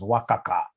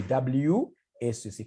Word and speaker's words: WACC: There is somebody who pronounced this as Wakaka. Wakaka, no. It's supposed to be WACC.